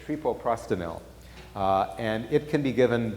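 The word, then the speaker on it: treprostinil: sure I say it, I often put one extra syllable in it. I think it's trepoprostenil.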